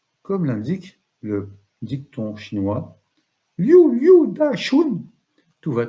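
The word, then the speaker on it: 六: Cela s'exprime liu. Et liu a une prononciation voisine du mot prospérité.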